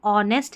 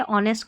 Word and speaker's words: honest: और यह जो है ना यहां पर अब यह समझ में आ गया कि एच साइलेंट है इस स्पेलिंग में। इसका मतलब ऑनेस्ट है। ऑनेस्ट का मतलब ईमानदार है।